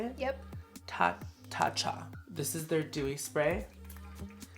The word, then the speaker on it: Tatcha: Tata Tatcha.